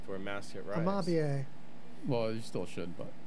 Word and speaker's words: Amabie: We got a Japanese spirit amabie. Is that how you say it? Absolutely. It is. I think I put a pronunciation there.